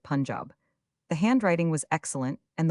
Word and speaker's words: Punjab: You must pronounce it Punjab.